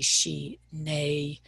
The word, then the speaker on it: shine: You sometimes see she, nay, n-a-y phonetically.